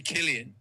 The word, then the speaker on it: Cillian: So it's actually Killian.